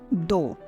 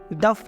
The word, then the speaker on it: though: इसी तरह से THOUGH, दो, THOUGH, दो, दफ नहीं बोलेंगे, दो बोलेंगे, दो, THOUGH, दो।